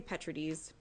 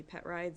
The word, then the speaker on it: Petrides: and that's fine but it's Greek and my family is not Greek so we bastardized the pronunciation many many many years ago so yeah we you can call me Petrides if it's easier because